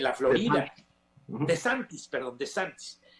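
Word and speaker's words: DeSantis: meter al bote es el señor no se pronuncia bien decentes o disentis en la Florida de santis perdón de santis y y la realidad es que que no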